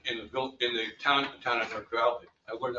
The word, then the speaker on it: Newark Valley: in the V in the town town of Nerk Valley. I learned how to pronounce it by the way Newark Valley we down.